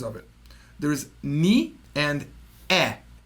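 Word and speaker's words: へ: it there's knee and e it's written as he but it's pronounced you're going to hear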